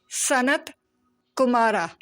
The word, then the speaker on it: Sanat Kumara: This is Divine Father, and you can pronounce his name as SANAT KUMARA.